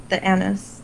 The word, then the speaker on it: anise: Yeah, the standard Twizzlers are the strawberry and the anise, or anise, however you want to pronounce it.